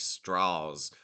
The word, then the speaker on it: Strauss: lot on that Lewis Strauss was uh the Republican guy and I think he even pronounced his his last name like straws like with a Southern draw so it sounded less Jewish I mean he he